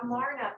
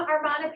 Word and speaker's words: Amarna: Excuse me, Amarna period. I'm always pronouncing it wrong.